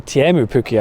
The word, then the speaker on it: Teemu Pukki: And a wonderful finish from Teemu Pukki, or Teemu Pukki, I think it is pronounced, as Mr.